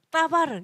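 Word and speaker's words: דבר: 자, 근데 이거는 뭘로 뭘로도 알 수 있냐면 말씀의 뜻으로도 알 수 있어요.이 말씀이 다바르에요. 어떤 사람은 따바르 이렇게 발음 돼요. 따바르. 원래 히브리어로 보면 따바르가 맞기해요.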